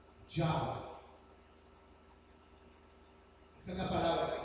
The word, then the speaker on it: Yahweh: ¿Cómo se pronuncia ese nombre? Yahweh. Esa es la palabra que está usando ahí. Yahweh.